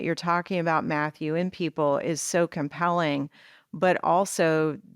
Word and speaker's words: Pipl: did you get the name Pipl and the pronunciation? Because it's brilliant and it's great branding, even if that wasn't the intention. P-I-P-L, Pipl.